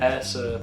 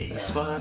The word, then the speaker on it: aespa: Wait, how do you pronounce it in Korean? aespa. aespa. aespa. Because honestly, it started with an A and I was like, aespa?